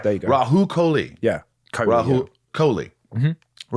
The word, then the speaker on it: Rahul Kohli: It's, by the way, I'm saying it right. It's Rahul Kohli. Yeah. It's not Rahul Kohli, yeah. Rahul, but you say it fast. I do, yeah. But Rahul, was it Rahul? No, there's an H.